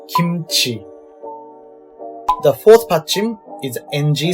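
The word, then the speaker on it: 김치: It would be Ki plus M plus Chi. Kimchi.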